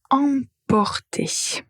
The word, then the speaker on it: emporter: Alors la paire suivante c'est apporter et emporter.